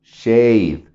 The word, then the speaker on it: shade: Aquí cuando las dos vocales están en un solo sonido, la A, que es la que estamos pronunciando porque la E es la silenciosa, la A se pronuncia como la de Estados Unidos, ¿no? Shade, la A, la letra A, por eso es shade.